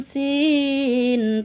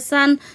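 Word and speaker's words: سين: সিন উচ্চারণ কেমন হবে? সিন সামনের নিচের দাঁতের আগা থেকে শীর্ষসহ পাতলাভাবে আদায় হবে, নইলে সা অথবা সদ অক্ষর আদায় হয়ে পড়া হারাম হয়ে যাবে। খারাপ আঁকা চিহ্নের এই জায়গায় সাবধান হও। সা অথবা সদ অক্ষর আদায় হয়ে যেতে পারে।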